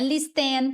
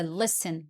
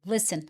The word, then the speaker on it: listen: Vai repetindo comigo, não é listen, tá? Não existe listen, esse t é mudo, listen, listen.